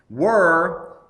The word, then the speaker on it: were: Were, which is pronounced right there, that W-U-R, is the past tense of R.